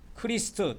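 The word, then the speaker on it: Christ: 크라이스라 이렇게 불라 부르죠 크라이스트 크리스트 또는 크라이스트 이렇게 발음을 합니다 영어에서는 그게 우리나라 성경에는 그리스도로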